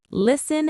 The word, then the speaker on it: listen: Remember, listen has a silent t.